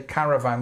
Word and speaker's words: caravan: Also be careful with this, make sure that when you say caravan you put that strength on the first part.